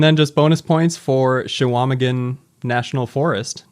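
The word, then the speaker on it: Chequamegon: Chewamegan, but it's Chewa. You don't pronounce the Q. Yep. Chewamegan.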